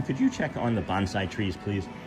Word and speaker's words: bonsai: And then, hey Sean, could you check on the bonsai trees, please? The bonesai. Bonesai is what they're pronounced.